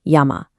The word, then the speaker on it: yama: the character for hemp, which is pronounced ma. Put them together and what do you get?